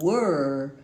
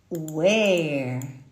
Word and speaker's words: were: Assim como era ou estava, eu pronuncio um E fechado. Eu falo were. Eu não falo mais where.